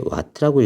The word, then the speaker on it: 와트: 그다음에 요게 왓트라고 읽어요. 왓트 W 아닙니다.